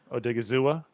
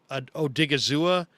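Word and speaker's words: Odighizuwa: He was talking about, how do you pronounce the kid's name from UCLA? Osa Odigizua. Odigizua.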